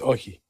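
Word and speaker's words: Όχι: But uh No, it's Oi. Oi. Oi. Oxy. Oi. Oi. It looks like It looks like Oxy, but it's Oi.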